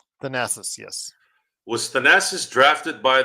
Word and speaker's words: Thanasis: How do you pronounce Giannis's brother's name? Thanasis? Thanasis, yes.